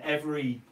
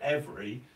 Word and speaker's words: every: every setting sun, and every. I don't. When I say the word every, you'll notice I basically say it like 2 syllables rather than 3 syllables. I say every, not every.